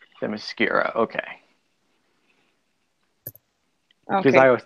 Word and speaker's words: Themyscira: It's more like it sounds like more like a Q sound, kind of Themyscira, like Kira. Themyscira, okay.